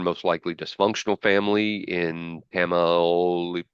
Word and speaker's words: Tamaulipas: Magdalena came from a poor and most likely dysfunctional family in Tamaulipas. How, Tamaulipas. yeah, how you pronounced it.